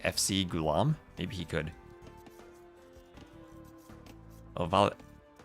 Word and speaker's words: Ovalle: Ovalle, if I pronounce it Colombian style. Oh, and Dragonborn, hello. Vache, if you pronounce it Argentinian, Uruguayan style. How does Mario himself say it? That's the question. Mario Ovalle. That sounds good because it's two L's, right? I should make that Y sound.